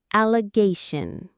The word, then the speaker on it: allegation: We can break it into its syllables. Al, le gay, shun. You'll notice that shun sound at the end, which is very common in English. The stress, the strongest sound is on the gay syllable.